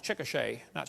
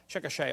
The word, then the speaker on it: Chickasha: it 2005 textbook and I pronounced it wrong as Chickasha nots Chickasaw Chickasha Oklahoma I got corrected during the